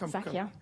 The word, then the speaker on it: Zakia: Yes, that's Zakia. Zakia. They always say that the way to pronounce somebody's name is the way your mother pronounces it.